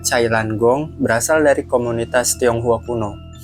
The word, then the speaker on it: Jailangkung: Asal-usul Jalengkung atau dalam pelafalan aslinya, Cailan Gong berasal dari komunitas Tionghua Kuno.